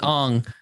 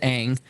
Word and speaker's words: Aang: But Sam Worthington as Ong. Because that's the way we pronounce his name in the M. Night Shyamalan. Yeah. Not because we have multiple, episodes of the animated series where his name is Aang.